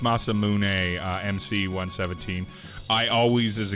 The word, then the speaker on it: Masamune: next little bit of story yeah it is pronounced Masamune MC 117 I always as a kid pronounced it Masamune and then I heard the pronunciation of Masamune and I was like okay I guess that's